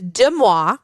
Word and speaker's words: Deux Moi: People think that like I'm pronouncing it wrong, but it's just it's intentional. So it's Deux Moi.